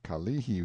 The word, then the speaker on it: Kalihi: a picture as the Kalihi Valley pronounced stress on the second syllable all citizens talk about